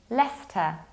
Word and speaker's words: Leicester: Whenever you have CE or IC, so something like ice, you have to skip it and you pronounce Leicester. Leicester, like the name of a guy.